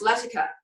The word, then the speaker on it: Latika: Millionaire came out and the leading that was Latika but pronounced let occur well so it turns